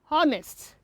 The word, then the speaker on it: honest: yes silence letter h in some cases the age is pronounced but in some words we have the age as silent letters hair honest oh honorable and hourly